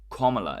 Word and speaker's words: Kamala: that so the are these two right comma comma is the correct pronounce comma or Cam comma comma is the